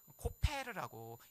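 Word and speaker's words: כֹּפֶר: 여기에 나와 있는 역청이라고 하는 단어도요, 코페르라고 읽는 단어고요.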